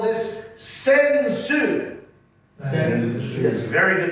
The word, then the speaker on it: sensu: In Japanese, we call this sensu. Sensu. Yes, very good pronunciation.